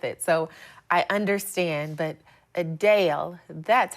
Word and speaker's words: Adele: we've been saying her name wrong while many pronounce it just like we do as Adele the singer says it's actually a Dale a Dale she noted the correction during a recent q